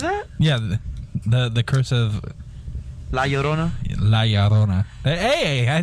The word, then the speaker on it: La Llorona: Yorna. That's how you pronounce it, right, guys? No. La Llorona? There you go.